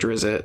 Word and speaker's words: Drizzt: You're up to book 20 of Drizzt, Ari the Salvatore. Drizzt. Yeah, the Drizzt. Or Drizzt, or I don't know. However you pronounce that. I say Drizzt, but... It's not spelled to be pronounced in English.